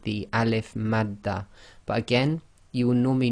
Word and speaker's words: alif madda: This will be pronounced as normal, 2 lengths long, just like any fatha alif long vowel.